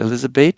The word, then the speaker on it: Elisabeth: Remember, I said Elisabeth, so the final th is pronounced like a t instead of a th sound in English.